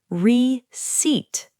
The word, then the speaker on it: receipt: Receipt. Excellent point, Nia. The P is completely silent, and a receipt is